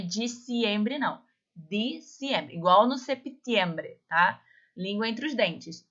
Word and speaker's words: septiembre: Nós temos o mês de septiembre, ó, septiembre, tá? O P, ele é mudo, mas eu pronuncio.